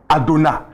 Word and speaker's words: Adonai: Donc ils ont pris le mot Adonai. Quand vous prenez la première syllabe, il y a Aleph et puis il y a Hataf Patah.